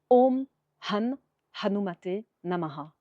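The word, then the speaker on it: Om Hanumate Namah: Om hanumate namha. C'est assez facile à prononcer mais il faut savoir bien sûr prononcer le H aspiré est entraîné pour la prononciation pour que ce soit parfait.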